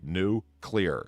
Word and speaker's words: nuclear: i get this straight new as in not old and then clear as in not foggy new clear and they're like yes